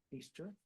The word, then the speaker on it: Feaster: credit to AUM feaser I'm told you pronounce her name feaster uh I know her